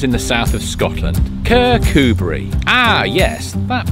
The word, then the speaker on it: Kirkcudbright: Today, I'm in one of the most popular towns in the south of Scotland, Kirkcudbright. Ah, yes, that pronunciation. Ignore the spelling, it's Kirkcudbright, with emphasis on the coo.